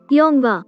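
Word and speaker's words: 영화: For example, Yongwa means movie. Here you can see that ing consonant placed at very first place doesn't produce any sound.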